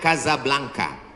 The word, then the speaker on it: Casablanca: kuliah nama negaranya Maroko ibukotanya tulisannya Casablanca cara bacanya Kasablanka Kaza artinya rumah blanka